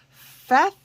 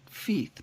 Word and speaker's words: Feath: contacted by the beautiful feth pim art i keep wanting to say it feet but it's that as she says rhymes with death so fath pimard has